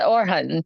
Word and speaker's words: Orhan: he's checking hello okay perfect or am I pronouncing your name name correctly is it orhan or or it's it's perfect it's perfect okay